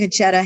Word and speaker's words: Concetta: Melford and his wife, Concetta, is that how you pronounce her name? Concetta, exactly.